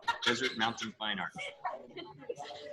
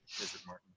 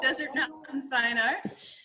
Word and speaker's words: Desert Mountain Fine Art: Arizona at an art gallery that I keep pronouncing wrong so I'm gonna have Philip say it Desert Mountain Fine Art that'll work better calling it Martin I don't know why desert Martin desert Martin Fine Art so it's Desert Mountain